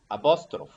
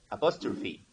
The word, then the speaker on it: apostrophe: you find some teachers for example saying abostrov okay a poster without it without the sound e so a lot of students and teachers without e without the sound e so but the right pronunciation about apostrophe so you should be very careful with these words because it's commonly mispronounced a lot of teachers